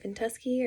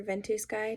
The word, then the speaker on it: Ventusky: with navigating the website vent us key or vent a sky depending on how you pronounce it and we're able to